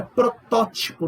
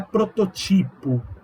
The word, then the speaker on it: protótipo: É protótipo, não é prototipo.